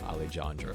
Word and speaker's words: Alejandro: heart for Al jandro which is actually how you say his name alandro oh alandro my bad